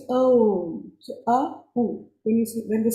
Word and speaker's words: Om: It has three syllables, A, U, and Ma.